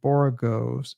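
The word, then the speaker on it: borogoves: rhyme with Groves again the first o in boros is pronounced like the O in borrow I've heard people try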